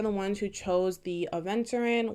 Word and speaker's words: aventurine: All right, so pile number 2, you guys are the ones who chose the Aventurin, which I used to always say Aventurine because of the group Aventura.